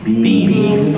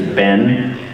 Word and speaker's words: been: How do you pronounce that? Yeah, well, we see bean. But there's regional versions of American bean. There's Ben, Bin.